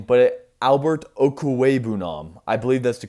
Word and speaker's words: Albert Okwuegbunam: Additionally, though, the Broncos did draft, I'm going to struggle with this name, but Albert Okwuegbunam. I believe that's the correct pronunciation.